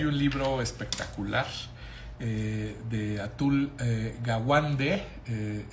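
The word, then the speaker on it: Atul Gawande: Eh, hay un libro espectacular eh de atul eh Gawande. Eh, se escribe atul, así como suena, como atún, pero con l de Luis al final. Y gawuande es con g a w a n d e que se llame que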